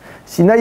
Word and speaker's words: Sinaï: Sinaï et Sina s'écrivent de deux manières différentes, mais se prononcent de la même manière.